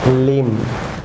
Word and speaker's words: limb: Viewers যেমন be silent থাকবে, এটি বি, থাম। অবশ্য বলুন থাম। যেমন লিম, ভিউয়ার্স লিম।